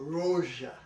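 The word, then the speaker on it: Rózsa: So they pronounce it Miklos. Oh. Rozsa.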